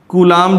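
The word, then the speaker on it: coulomb: तो कूलाम, मैंने आपको क्या बताया था, कूलाम जो सी है कूलोम, इसकी स्पेलिंग कूलोम आती, ध्यान रखना, हिंदी में कूलाम बोलते हैं इसको।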